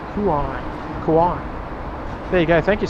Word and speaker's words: Kauai: chain because it's so beautiful some freaking rain pronounced Kauai there you go thank you Stephen thank you